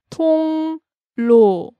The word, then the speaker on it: 통로: Now, what I find interesting about this word is the pronunciation of it. Let's break it down syllable by syllable. 통로. Yeah, 통 kind of ends in an NG-like sound, that 이응. And what's our next syllable start with? 리을. Yeah, and it's kind of like a L sound. But when these two mix together, it's 통로. Yeah, 통로, like a N.